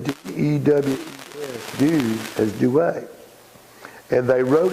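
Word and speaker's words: Dewes: is the forerunner of Due West, and they spell it about 6 different ways. The fellow's name was William Dews, D-E-W-E-S.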